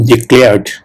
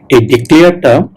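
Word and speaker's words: declare: করা হয়েছিল ওকে ডিক্লেয়ার ডিক্লেয়ারটা যারা বাঙালি তারা কিন্তু এটাকে উচ্চারণ করে ডিক্লেয়ার ডিক্লেয়ার কিন্তু একচুয়াল প্রোনাউন্সিয়েশনটা হবে প্রোনাউন্সিয়েশন মানে উচ্চারণ ওকে প্রোনাউন্সিয়েশন উচ্চারণ একচুয়াল প্রোনাউন্সিয়েশন হবে ডেক্লেয়ার ডেক্লেয়ার ডেক্লেয়ার ওকে সো হ্যাভ ইউ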